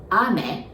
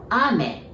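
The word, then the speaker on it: 雨: or autumn and ame so if you say ame it means rain and if you say ame it means candy it writes the same but it pronounce where the accent is is a bit different ame it means candy ame it means rain you hear the bit of difference and now lastly of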